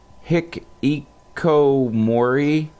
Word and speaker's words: hikikomori: I'm pretty sure I'm pronouncing this wrong, but Hikikomori Hikikomori, I think is.